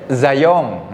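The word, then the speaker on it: Zajonc: Robert apa Robert apa Robert zong namanya Robert apa zong jadi jangan sampai salah nyebut ya makanya pronunation penting kan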